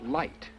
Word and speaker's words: light: G H I know but there silent it's pronounced light light and two dots and the Earth was